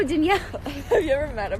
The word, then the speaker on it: Danielle: i meet him everybody because i say my name so fast people just i go how many danielle they go denial danielle and i go no danielle have you ever met